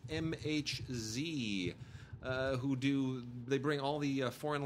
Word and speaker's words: MHZ: And then, really quickly, I just want to you know, we love the people over at MHZ, which I used to mispronounce or mislabel as megahertz. It's MHZ.